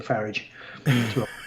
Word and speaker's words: Farage: Yeah, it's like annoying Nigel Farage by calling him Farage. To rhyme with garage.